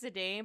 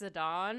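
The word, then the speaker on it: Zidane: playthrough of it and I was saying I saying his name was zadan but apparently it's zadon I'm like oh no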